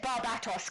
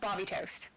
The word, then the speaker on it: Barbatos: Ah, David said Barbatos. Correct pronunciation. Thank you, David. I appreciate you. Oh, and my mom, too. Barbatos. See the majority rules. It is not Barbie toast.